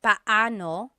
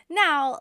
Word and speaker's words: paano: just a pronunciation tip it's technically paoo when they're two vocab when they're two vowels together you say them separately Pao but when speaking quickly Filipinos just say now let's practice using paano